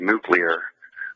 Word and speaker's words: nuclear: There's no U after the letter C in the word nuclear, but that's okay.